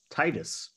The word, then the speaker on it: Titus: can we can use Titus it's like tits two syllables but it's got an Us in it you know I I can see that becoming a pronunciation thing and Titus will eventually wind up